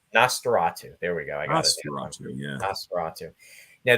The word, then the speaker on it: Nosferatu: to be uh showcased is going to be nisaratu am I pronouncing that right Ross Nosferatu Nosferatu there we go yeah now this is a